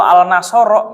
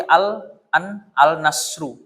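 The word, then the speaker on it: النصر: Tapi kalau al nasoro nggak mungkin bisa. Ya, kalau mau bukan al nasoro tapi al nasru.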